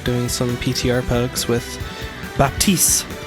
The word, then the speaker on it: Baptiste: some PTR Pugs with Baptiste, or Baptiste. The P is silent.